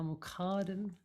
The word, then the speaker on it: Muqaddim: So we'll repeat Ya Muqaddim Ya Mu'akhkhir. So the stress is in the middle syllable each time.